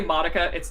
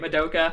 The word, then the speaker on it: Madoka: Like, oh gosh, I always say Madoka. That's not how you say it. Madoka.